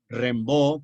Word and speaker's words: Rimbaud: XIX, donde está Baudelaire, que se escribe Baudelaire, Rimbaud, que se escribe Rimbaud, y Verlaine, que se escribe Verlaine.